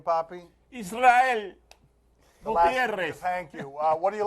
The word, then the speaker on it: Israel Gutierrez: How do we pronounce his name, Poppy? Israel Gutierrez.